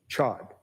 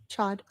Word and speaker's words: Chad: Jeff Chod. I probably said that last name wrong. Chad.